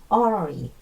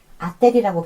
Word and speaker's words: artery: 동맥, artery, 아테리라고 발음하셔도 안 돼요. artery예요.